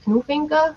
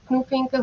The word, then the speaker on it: Knufinke: Our second speaker is doctor Knufinke. Am I pronouncing your last name correctly? Yes, perfect. Knufinke who comes to us from the Technical University Braunschweig in Germany.